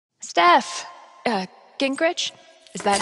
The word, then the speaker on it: Gingrich: Steph, Gingrich, is that how you say it?